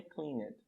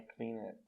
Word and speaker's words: cleaned: I cleaned, não é cleaned, não é cleaned, é cleaned. Só pronuncio o D.